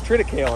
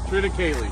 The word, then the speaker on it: triticale: It's triticale, right? Triticale. Ah! I was telling everybody last night that I hear it pronounced two ways. People either pronounce it triticale or triticale.